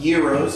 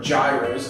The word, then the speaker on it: gyros: I believe Arby's has stepped out of the roast beef realm because they now have gyros, if you're going to say it correctly, or gyros, as everybody says.